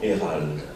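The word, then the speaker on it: Eyheralde: Ça s'écrit E-Y-H-E-R-A-L-D-E. Donc il aurait fallu dire Hérald.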